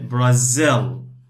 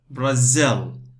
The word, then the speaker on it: Brazil: So we say Brazil. Two parts, the stress on the second part. Brazil.